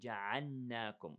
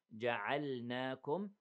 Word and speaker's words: جَعَلْنَاكُمْ: Don't merge the lam with the noon. Don't say جَعَلْنَاكُمْ. Okay. Separate them. جَعَلْنَاكُمْ أُمَّةً.